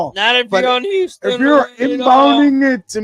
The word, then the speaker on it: Houston: It's the H is silent. It's Houston.